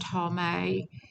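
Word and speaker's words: טמא: foul is in a ceremonial sense and it's pronounced tommy and that she's unclean that's strong's word two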